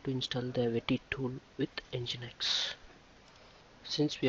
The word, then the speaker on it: Wetty: Wetty tool is normally pronounced as web plus tty. It means that to access the terminal page in browser. So now we can see how to install the Wetty tool with Nginx.